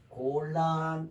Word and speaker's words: 곤란: 그래서 곤란 읽을 때는 곤란 하고 이렇게 읽습니다.